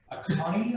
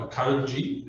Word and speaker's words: Akanji: Akani, I think is how you pronounce his last name. He is a Swiss national, 25 years old. Emmanuel Akanji.